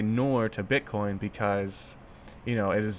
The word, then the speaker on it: nour: It's pronounced nour, also spelled nour, and then you have it in Arabic and some other ones.